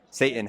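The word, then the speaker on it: seitan: S E I T A N. Yeah, I don't know why they pronounce it Satan like that.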